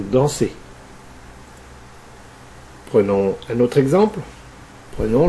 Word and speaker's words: dansez: Enfin, on fait le son E avec EZ dans vous dansez.